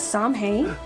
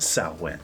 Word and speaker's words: Samhain: Do you seriously believe this is Samhain? It's pronounced Samhain.